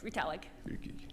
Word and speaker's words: Retallick: Dr. Riedelijk, am I pronouncing that correctly? Is it Riedelijk? Very close, Retallick. Yep.